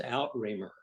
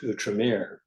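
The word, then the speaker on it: Outremer: say that word again we read it as out rer o u t r m e r uhhuh and it's actually pronounced utram utram Mir sounds a lot better actually out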